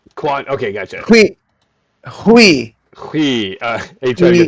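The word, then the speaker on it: Huy: Hui. Hui. Hui. Are you trying to get Hui. that? Hui. You trying to get the pronunciation? HWEE would be the pronunciation like that there.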